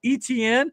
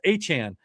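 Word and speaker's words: Etienne: uh his he was his name's always been pronounced Achan, but teams didn't know how to pronounce it or players they played with didn't know how to pronounce it, so he's going by ETN, but he's asking everybody to call him Travis Achan now.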